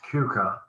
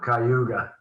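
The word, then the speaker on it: Keuka: to Cuca Lake and that's pronounced Cuca not cuga or canadaa or skinny Atlas all the other names you can't pronounce it's CCA and it's Hammond Sports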